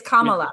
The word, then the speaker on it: Kamala: It's Kamala. Yeah. But it doesn't rhyme with Mamala.